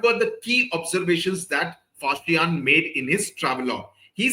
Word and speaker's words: Faxian: There was a Chinese traveler called Faxian. That's how it is pronounced.